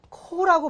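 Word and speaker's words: corps: 코라고 발음해요.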